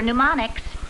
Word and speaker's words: mnemonics: early good night kelly remember mnemonics the monarch no no that's m n the m is silent thank you for a